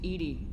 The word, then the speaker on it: EDI: aboard his ship's computers why are you named edie ed is the phonetic pronunciation of edi that is an acronym for